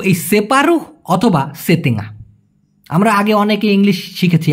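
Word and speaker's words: setengah: Half অথবা অর্ধেককে Malaysian ভাষায় বলা হয় সেতেঙ্গা অথবা সেপারু। অনেকে এই সেতেঙ্গা এটাকে বলে ইস্তিঙ্গা, সিতিঙ্গা। আরে ভাই কেন? এটা সঠিক উচ্চারণ করেন, সেতেঙ্গা।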